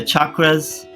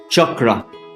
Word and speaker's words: chakra: There are other chakras as well, but there are 7 major chakras, and this word is often mispronounced chakra, but chakra.